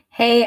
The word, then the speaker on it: Hy: your ideas into a legacy of social change hey everyone it's mewntv and we are here live with my friend Michelle Michelle remind me